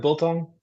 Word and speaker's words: biltong: Biltong.